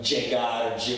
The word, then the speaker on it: llegar: And I understand sometimes it can have a hard J sound, like llegar, llorar, lluvia, but it's regionally specific.